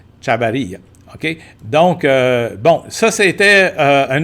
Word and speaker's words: Chavarria: Donc, le V, souvent prononcé comme un B au Costa Rica. OK? Chavarria.